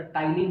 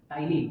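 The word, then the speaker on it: ptyalin: काय प्रेझट असत तर टायलीन नावाचा एक एन्झाईम प्रेझट असतो टायलीन बघा पीटी वाय त्याचा स्पेलिंग अस आहे टायलीन हा एन्झाईम रुमिनंट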